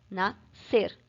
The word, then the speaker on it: nascer: representam um som só nascer às vezes a gente faz em nasça ser mas não é assim como se fala e ele conhece cê mas se fala nascer tá ser esse sc tem o som de um s só então vocês tão vendo